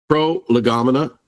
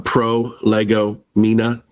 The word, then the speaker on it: Prolegomena: Pro- Legamina. I sometimes jokingly pronounce it a pro lego mina because it's such an unusual term for people not not familiar with the topic.